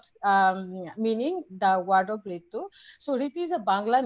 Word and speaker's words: Wreetu: And it's also a common name of girl's name in Bangladesh, like Ritu.